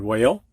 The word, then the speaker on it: whale: the silent e but here in the WH combination H is silent as in way old all right students go ahead and say these before I do and that is the word whale when white whiz what